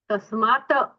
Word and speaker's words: तस्मात्: तस्मात नहीं है, तस्मात कारुण्य, तकार थोड़ा सा आधा उच्चारण चाहिए उसका। अच्छा तस्मात मैम ऐसे तस्मात् कारुण्य।